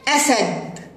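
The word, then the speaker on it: أسد: حسب الحركات التي عليه وهنا حرف الالف عليه فتحه فينطق ا اسد وهكذا يا اصدقائي فكلمه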